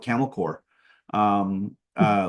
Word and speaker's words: Corps: and they you know it was called camel core um uh like corpse but we don't pronounce the so um there so they got